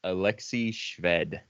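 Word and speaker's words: Alexey Shved: A is pronounced Alexei Shved.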